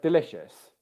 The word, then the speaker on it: delicious: I'm going to stress each of the syllables, and I want you to tell me which one sounds right, okay? I'll start by stressing the first one.